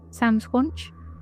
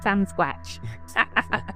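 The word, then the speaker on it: Sasquatch: Do you think another Sam Squanch? Did I say it right? Sconch. How do you say it again? Sam Squatch.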